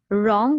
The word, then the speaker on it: wrong: e and n g wrong we have a silent letter here which is w okay we do not hear the sound of w it's only r o and n g then i repeat it's